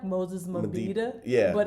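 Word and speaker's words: Mabhida: It's like Moses Mabida. Yeah. But I always say Moses Madiba. But Yeah, it's Moses just easier. Mabida.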